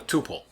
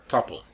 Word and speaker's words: tuple: by something we call a tuple or a tuple depending on how you want to pronounce it and that contains values